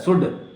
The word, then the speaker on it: should: सुल्ड नहीं बोला जाता है, सुड. SHOULD, शुड.